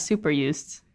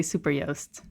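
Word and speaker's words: Super Joost: that i've i realized i've always been pronouncing it as super used it was actually actually super yoast it's super yes it's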